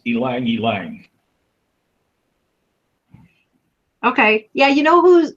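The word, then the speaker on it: ylang-ylang: oh by the way that oil that we don't know how to pronounce is apparently pronounced Alang Alang okay yeah you know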